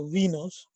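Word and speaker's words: wino: the superpartners are the we knows we pronounce the we know not why now the superpartner of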